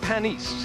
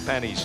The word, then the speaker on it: Panis: five M hinan driving for McLaren it is pronounced panise he drives for Al Ro I said is it pan Olivier or panis or panise he said it is pronounced panise let's go to row number six as we